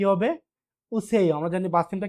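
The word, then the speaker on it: 오세요: তাহলে উচ্চারণ কি হবে? উসেইও আসুন। উসেইও আসুন।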